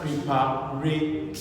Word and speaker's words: preparatory: So when you break it into syllable, pre, then papa, and re, then tree.